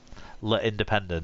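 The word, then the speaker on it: L'Indépendant: Is that how you pronounce it? L'Independent.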